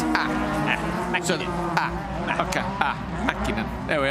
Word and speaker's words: Mäkinen: So the A with the 2 dots above it, yeah, is that a long A or a hard A? Like, is it R? Like The A with dots. Yeah, like the A. Like Tommi Mäkinen. Yeah, like that. It's Mäkinen.